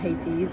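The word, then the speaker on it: Colonel Hathi's: And we are currently sat in, let me see if I can swing around, Colonel, I think it's pronounced Hattie's.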